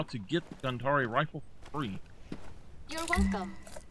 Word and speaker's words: Gandhari: And we are going to go for the Gandhari rifle. And yes, I do believe that is how it should be pronounced instead of Gandhar. It should be Gandhari.